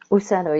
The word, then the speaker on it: Ucedo: Do you pronounce it Ucedo? Ucedo, yes.